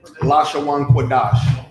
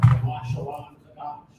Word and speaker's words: Lashawan Qadash: You said how to pronounce it again? The only tongue say it again. Lashawan Qadash. Lashawan Qadash.